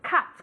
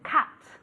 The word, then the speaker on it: cut: To cut. Como si fuera realmente con una A más que una U. To cut.